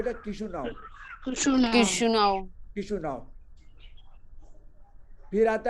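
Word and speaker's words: Chișinău: किशुनाव, किशुनाव।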